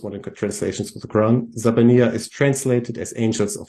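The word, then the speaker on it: زبانية: So this word is pronounced Zabaniya, and nobody knows what it means.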